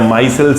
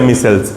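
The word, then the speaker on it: micelles: या माइसेल्स या मिसेल्स, this is the spelling.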